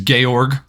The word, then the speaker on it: Georg: His name is Gayorg, right? Kind of like the German pronunciation of George.